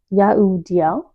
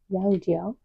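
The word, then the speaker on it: Jehudiel: Jahudiel. Jahudiel. I always struggle with their name. Silent H. Sometimes it's spelled with a G, which is still silent.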